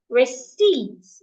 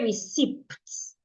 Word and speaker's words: receipts: Receipts. The P is silent. Do not say receipts. It's receipts.